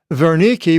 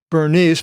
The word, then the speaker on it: Berenice: Agrippa II, the king here Berenice Berenice, where you see it here, it's not Bernice, but in Greek it's uh the what looks like a B is V, Berenice.